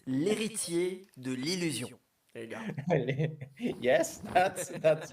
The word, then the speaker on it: L'Héritier de l'Illusion: It's l'héritier de l'illusion.